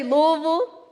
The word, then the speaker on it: Louisville: and I'll convince you everybody say Louisville ok if anyone tries to pronounce it different tell them you heard it here first my name is